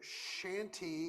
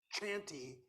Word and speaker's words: shanty: also a theory that the shanty with an SH, because it's pronounced that way, that's why I think Cold Cord chose to use it, because she didn't want people pronouncing it chanty.